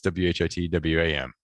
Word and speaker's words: Whitwam: But it was Whittam, W-H-I-T, W-H-A-M, and now it's W-H-I-T, W-A-M. And I guess pronounced Whitwam.